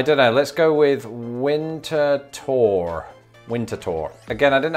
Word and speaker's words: Winterthur: i um i don't know let's go with winter tour winter tour again i didn't have much luck finding an answer to this but according to someone's blog it is winter tour which was a wild stab in the dark